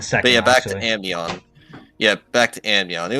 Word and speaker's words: Amnion: Okay, now next we got we got Aminon, Amnion. Amnion, Amnion. That's how you Yeah. pronounce it. Amnion.